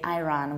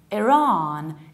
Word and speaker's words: Iran: they decide to say Iran, which is actually the name of Kurdish yogurt. We pronounce it like Iran, Iran, so there is no I, it's I, and you prolong the second vowel, Iran.